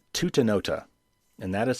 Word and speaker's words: Tutanota: It's called Tutanota, and that is spelled Tutanota.